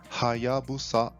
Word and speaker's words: Hayabusa: Atenção novamente ao som de H no começo e de S no final, Hayabusa. Mais uma empresa que teve